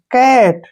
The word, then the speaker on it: cat: जब दो कॉन्सोनेंट के बीच में ए आता है तो वहां पर जो है क्या होता है, ए का उच्चारण हम आई के रूप में करते हैं।